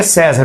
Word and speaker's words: César: Mas o meu Paulo César, ele não tem acento no E, é César, não é César.